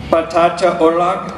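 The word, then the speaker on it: patatje oorlog: The correct way to pronounce these, Link, is patata oorlog.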